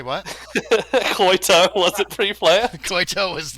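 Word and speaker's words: Coytow: oh my god koito it kind of sounds like coyote it does a little bit but it's c-o-y-t-o-w koito or tau but the kid pronounced it toe anyway it's not t-o-e koito cause you got one toe uh anyway um so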